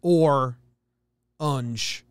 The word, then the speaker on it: orange: syllables hey kevin bugs it's two syllables but every other part of the country says or unj but if you're from new jersey you say orange and ar and i